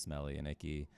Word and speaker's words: Smelly X Icky: So, and on that note, I will do a small plug on Smelly X Icky, pronounced Smelly and Icky.